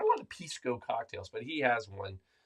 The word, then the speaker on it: Pisco: us uh from South America a bottle of Pisco am I saying it right it's Pisco right Pisco yeah Pisco Pisco yeah not Pisco